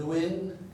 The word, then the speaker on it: Nguyen: This emperor, Jia Long, started the Nguyen dynasty. Sometimes the G is silent, as in No Din Siem, N-G-O, no. And sometimes it's like a W, Nguyen.